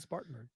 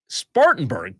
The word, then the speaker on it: Spartanburg: track do you know where Talladega was supposed to be bu right up the road in spanberg Spartanburg Bingo you said it right that's the correct answer it was supposed to